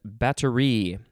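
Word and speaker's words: batterie: uh next word is battery the emphasis is on the last syllable b-a-t-t-e-r-i-e not with a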